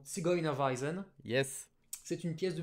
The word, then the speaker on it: Zigeunerweisen: alors, qui s'écrit comme ça en allemand, hein, Yes. que je prononcerai en allemand Zigeunerweisen.